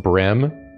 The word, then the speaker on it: bream: It's pronounced brim. I've always heard no, bream. It's not. It's not. That's not how I'll be pronouncing it today. It's not how we say it.